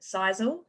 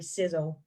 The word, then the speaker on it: Sisel: some people pronounce it sisal I guess it could you know it looks like it's pronounced that way but it's actually sizzle so if this company